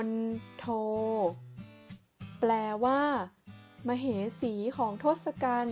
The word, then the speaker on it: มณโฑ: ทำ ต่อ ไป คือ มณโฑ อ่าน ว่า มน โท แปล ว่า มเหสี ของ